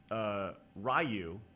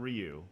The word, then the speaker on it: Ryu: Saget, Ryu, not Ryu. Right. Right. Well, are you talking about old school pronunciation or the actual pronunciation?